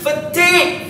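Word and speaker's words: fatigue: pronounce this f f it is not fattig grade this is fatig fatig f a t i ftig fatig you read it together as one oh man this is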